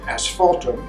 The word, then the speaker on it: asphaltum: The ground is made of asphaltum, which is like tar. That's why it sounds like the word asphalt.